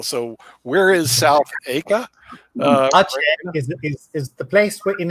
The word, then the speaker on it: Aceh: How is it in South Aka? Is that how you pronounce it?